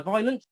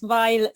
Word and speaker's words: ViolentMay: So many people, it's Violet, say Violet. No, that's wrong. It's violent like the punch in the face you get for saying it wrong. Punching, yeah, not the flower.